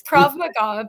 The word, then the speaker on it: Krav Maga: It's Krav Maga, but the first way you said it was really funny.